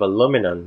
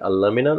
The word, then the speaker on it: aluminum: yeah or I mean we have two ways to pronounce that aluminum or aluminum both ways are good in English I guess one is more British one is more American but but I mean